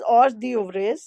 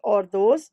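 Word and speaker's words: hors d'oeuvres: This department prepares various items such as salads, starters which are usually known as or those. So written as or the over but pronounced as or those in French.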